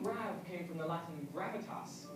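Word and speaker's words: grave: Or rather, grav, as it would have been pronounced in the original French.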